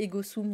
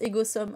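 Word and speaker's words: Ego sum: pas trompée, donc alors ouais, moi je prononçais Egosum du coup, mais Mmh. tu me dis qu'on prononce Egosom, on va prononcer Egosom. Bah, plutôt voilà la version latine, mais les 2 se disent, hein, après, Donc oui, voilà,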